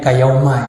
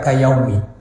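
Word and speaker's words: كيوم: Bacanya kayauma, ya. Kayauma waladathu ummu. Banyak orang baca kayaumi karena dia melihat kafnya huruf jar. Yaumi berarti dijarkan. Jar itu identik dengan kasroh, kayaumi. Ya, ini orang salah kafrah. Ya, bacanya yauma, kenapa? Karena dia bersandar kepada fi'il madi. Ya, kharaja itu fi'il madi. Fi'il madi, ya, itu mabni fathah.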